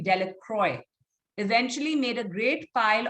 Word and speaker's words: Delacroix: jones we have dicky the villagers pronounced this name delacroix eventually made a great